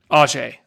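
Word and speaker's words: Ajeé: pronounce people's names correctly Oh Jay Oh Jay Wilson not AG how does the apostrophe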